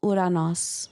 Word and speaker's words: Uranus: But I've also heard it pronounced Uranus. Uranus. Which either way, it's urine. Yeah. But if we pronounce it like they have it in Greek, it's Uranos.